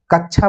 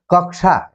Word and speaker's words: कक्षा: जैसे हम बोलते हैं, कई बार हम उच्चारण हमारा खराब होता है तो हम बोलते हैं कि कक्षा 4 का विद्यार्थी, कक्षा बोलते हैं, लेकिन सही माने में क्या है, कक्षा।